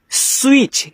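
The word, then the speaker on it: switch: तो इसको पढ़ते हैं स्विच। क्या पढ़ेंगे? स्विच पढ़ेंगे। यहां पे जो आपका टी होता है ना वो साइलेंट होता है।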